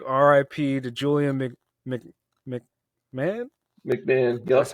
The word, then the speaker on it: McMahon: McMahon. That's Yep. how you pronounce his name.